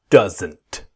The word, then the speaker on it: doesn't: basic idea does not doesn't but what happens the d is silent it disappears so we want that strong n dozen dozen and it